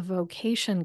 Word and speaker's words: VOcation: Also, last resource on the list here is the Vocation Conference. That's spelled just like vocation, the word, but it's V-O-cation, like voiceover. V-O stands for voiceover.